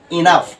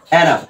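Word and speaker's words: enough: আন্ডারে ফেলালাম তাহলে এখানে এই ইউ এর উচ্চারণটা কি থাকবে সাইলেন্ট থাকবে ও এর উচ্চারণটা হবে তাহলে এখানে দেখো ইনাফ এই ও টা কি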